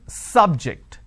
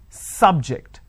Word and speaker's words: subject: syllable so I say biology is an interesting subject I'm I'm stressing on the first syllable okay now I am using another example please don't subject the students to any tests so here my stress has moved to the second syllable for example when I